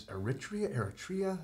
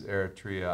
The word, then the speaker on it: Eritrea: Is it, or how do you pronounce that word right there? Aretha. It's from Ethiopia. Yeah. They speak Ethiopian and Arabic. And it's Eritrea?